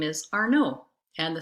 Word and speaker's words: Arnaud: my last name is arno and the spelling of our no is a-r-n-a-u-d we don't pronounce the d in our name so it sounds like our no not our nod it's a french name